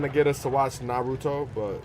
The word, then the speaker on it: Naruto: I think I said Naruto. Some people get upset when you say it like that. It's Naruto.